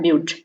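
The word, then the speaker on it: but: इसी तरह number of carbon atom 4 है तो ब्यूट से स्टार्ट होगा. यहाँ स्पेलिंग आपको बट का दिख रहा होगा, लेकिन इसे पढ़ा जाता है ब्यूट.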